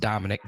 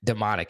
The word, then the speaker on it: Dominic: We talked about CJ West earlier in the day, but the defensive lineman and Ironhead 34 says it's got to be pronounced Dominic. No way it is demonic.